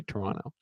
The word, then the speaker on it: Toronto: Canadians say Toronto like Toronto. They don't pronounce the second T.